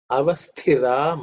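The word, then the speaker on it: अवस्थिर: Avasthira. Stay. 2nd letter in the tha varga, it has to be aspirated.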